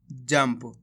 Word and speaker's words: जंप: मिलके बन जाएगा जंप कैसे पढ़ा अपन ने इसको जंप आधा मा का उच्चारण करा है जंप मा मनु स्वर की